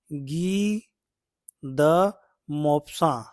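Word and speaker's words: Guy de Maupassant: नहीं पढ़ा जाएगा इसको इसका सही प्रोन क्या हो जाएगा गी द मोप्स ठीक है गी द मोप्स फ्रेंच नेम है तो फ्रेंच जैसे इसका उच्चारण करना चाहिए ठीक है आइए आगे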